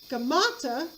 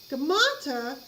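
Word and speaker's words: Gaumata: a lookalike of smyrnasis by the name of gamata which is spelled g-a-u-m-a-t-a-g-a-u-m-a-t-a gamata actually takes the throne pretending to be smurdus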